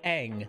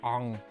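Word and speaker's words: Aang: we're in on the subject of characters it's pronounced eng they say it that way the entirety of the entire tv show and yet for the movie they change it to aung yes hello ignore me it's a passionate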